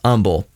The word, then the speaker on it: Humble: Kirk and doll and they can't pronounce Umble well actually they pronounce Umble correctly they pronounce it humble oh are you from